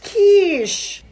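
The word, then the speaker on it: quiche: you can't say that I love Qui stop it's pronounced Kish I'm ordering some McDonald's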